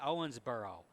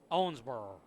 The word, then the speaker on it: Owensboro: I'm from Toledo. We say Owensboro. We like pronounce all the vowels and the consonants. We do it all. But if you're from Owensboro, Kentucky, it might just be Owensboro just kind of dies on the vine.